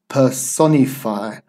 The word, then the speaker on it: personify: we have this one here as well personify personify and we've got that sound just stare above